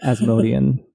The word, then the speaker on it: Asmodean: going to be, and that's going to be Asmodean. I don't know how you pronounce it in your fancy...